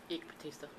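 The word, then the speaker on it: Eike Batista: Terrible pronouncing names. Eek Batista.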